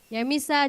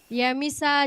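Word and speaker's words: Yamisa: Ya Misa Jebua. Anissa. Ya Misa Jebua. Ya Misa. Ya Pak.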